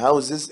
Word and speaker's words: houses: خلي بالك من كلمة houses في النطق، طبعا house بالاس يعني بيت، لكن houses الجمع بالزد طبعا في النطق بس، لكن تكتب اس houses.